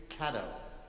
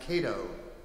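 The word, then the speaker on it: Catto: rights here in philadelphia octavius caddo sometimes pronounced cato i've heard it both ways i will do my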